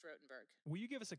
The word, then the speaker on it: Rottenberg: of those things work it's rotenberg 2s but pronounced rotenberg will you give us a quick plug on